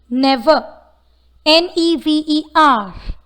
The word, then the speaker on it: never: Never. Never. The word never doesn't have an approximate consonant sound. Though the word ends with the letter R, the last R is pronounced as A in British English.